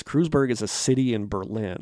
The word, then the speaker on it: Kreuzberg: and the song is i believe pronounced kreuzberg or crewsberg okay it is crewsburg is a city in